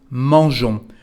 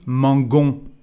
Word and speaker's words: mangeons: So the pronunciation is mangeons. Without this I, the pronunciation would be mangon.